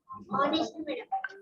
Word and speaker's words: honest: up okay yeah so what is this written honest honest okay very good so honest word is